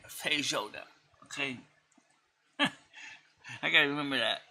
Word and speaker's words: feijoada: be probably something like freijoada. There is no R in feijoada.